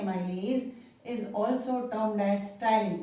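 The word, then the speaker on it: ptyalin: is also termed as styling this p is silent t y a l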